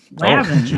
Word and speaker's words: Lavin: I should have looked up how you pronounce it. Probably Levine. It's TJ Lavin. Lavin.